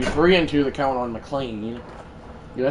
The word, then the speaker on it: McLain: I know that Denny McLain is McLain, not McLean.